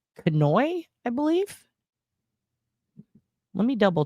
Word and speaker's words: Kanuch: So if you look it up, it's spelled Kanuch, but it's pronounced Kanu.